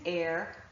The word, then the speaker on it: heir: So the list that I showed you before, honor, our, honest, and air, are actually the 4 words that I can think of and their derivatives where there's an H but it is not pronounced.